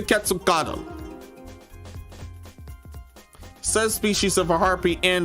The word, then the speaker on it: Quetzalcoatl: And yes, I've heard this pronunciation enough. Heard this pronunciation enough for it to be correct. This is the Quetzalcoatl.